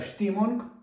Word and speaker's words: Stimmung: Воно читається як штоп. Е-е і шити. І оце штімонг.